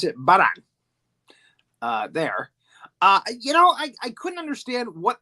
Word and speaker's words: Varan: They pronounce it Varan.